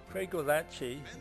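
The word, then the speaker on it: Craigellachie: was completed in 1885 Craig gachi that's how you say it was where the last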